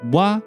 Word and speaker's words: は: You probably noticed that は is pronounced low after 行き, which means it is clearly not the follower type.